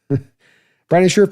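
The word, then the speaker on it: Brandon Scherff: Brandon Scherf. Let me say it right. Brandon Scherf is out there.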